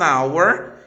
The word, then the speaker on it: hour: aspirado, no caso de hour, honest e helicopter. Eu tenho aqui palavras que começam com consoante, porém elas não têm a consoante pronunciada.